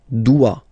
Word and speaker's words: doit: Il, elle, doit. Final T not pronounced.